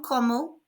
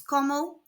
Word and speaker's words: comment: The T is silent on como.